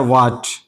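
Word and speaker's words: what: कोई एक हो तो अब उस वक्त एच साइलेंट होता है पढ़ा नहीं जाता। जैसे पहला लफ्ज है व्हाट व्हाट देखिए एच से पहले डब्ल्यू है और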